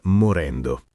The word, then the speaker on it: morendo: E sulla pronuncia, attenzione, la doppia n in morendo. Si sente bene il suono lungo e fame si dice con la a aperta, quasi fai me, non stretta.